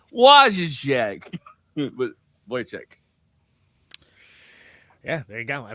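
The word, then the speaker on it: Wojciech: and Voych who uh I like that the the the name of that like uh guy is is spelled uh wo j c i c h or c ch like is what is so so in my head I'm like wo check yeah there you go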